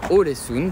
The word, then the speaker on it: Ålesund: Voilà, nous sommes bien arrivés à Ålesund, puisque Léa se prononce O.